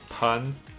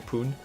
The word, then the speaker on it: pun: Same thing goes with pun. Now I know that it's pronounced like sun. For some reason I kept saying poon.